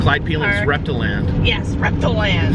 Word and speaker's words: Reptiland: Yes, Reptiland. So, Reptile Land. It's spelled Reptiland. I think it's Reptile Land. It's Reptiland. It's spelled Reptiland though.